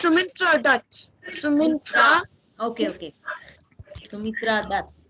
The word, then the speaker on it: Sumintra Dutt: Sumintra Dutt. Can you spell that for me? SUMNIT. Yeah. N-I-T. No, I mean INT. Mint. Okay. RA. Is that like that? No. It's part of. It's Sumintra Dutt.